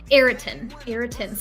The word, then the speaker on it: Ayrton: Ayrton. It's spelled Ayrton's.